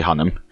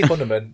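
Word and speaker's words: Hunnam: it's got Charlie hunman from Charlie hunam Charlie hunam I always say hunman yeah Charlie hunam um and I don't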